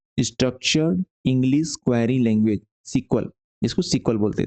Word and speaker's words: SQL: अब इसका नाम जो है पहले SEQUEL सीक्वल था, अब इसका SQL हो गया है और सीक्वल ही पढ़ते हैं, इसको प्रोनाउंस करते हैं।